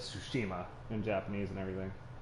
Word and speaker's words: Tsushima: are the warriors of sushima we are samurai been pronounced for all this entire time is really it's like sushi that's tsushima god damn it i